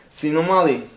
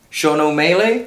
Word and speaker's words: Sean O'Malley: Sinomali. Sean O'Malley? Yeah. So, how you pronounce that? Sinomali. Sinomali? I would never, you know, what's that? So, Sinomali. Bro, it's Sean O'Malley.